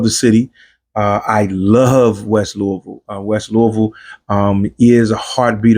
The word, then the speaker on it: Louisville: That is in Louisville, Kentucky, to say it correctly, Louisville, Kentucky.